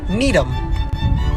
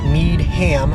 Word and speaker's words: Needham: number four we've got needham most people's first things think would be to go need ham but no that's needham number three and this one